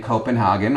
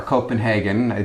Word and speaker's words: Copenhagen: Yeah, we started our trip in Copenhagen or Copenhagen, depending on how you want to pronounce it.